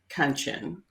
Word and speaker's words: Kanchan: I now say my name is pronounced Kanchan, rhymes with luncheon, in case you're wanting to know.